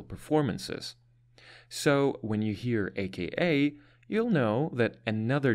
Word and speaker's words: AKA: Initialisms are abbreviations consisting of the initial letters of a word group, and we pronounce these letters separately.